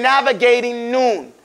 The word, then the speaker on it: navigating: And usually in the English language, when you have the ing after an N coming, you don't pronounce that G. You say navigating Noon.